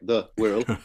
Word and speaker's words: Wirral: Sorry, the Wirral. I've actually learned something. I didn't actually realise, you know, how you're supposed to pronounce it.